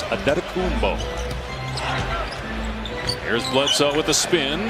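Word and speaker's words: Antetokounmpo: Pronunciation guide in the Milwaukee game notes, it is Adetokumbo.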